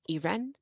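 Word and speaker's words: Irène: later they had a daughter Irene pronounced Iran because they're French and now they're in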